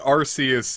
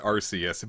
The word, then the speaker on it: Arceus: uh running around pronouncing they don't want kids a pokemon with the word arse in the beginning of the name so yes it's supposed